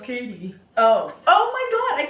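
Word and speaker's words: Cady: said to the girl the Cadi that's pronounced Katie Oh oh my god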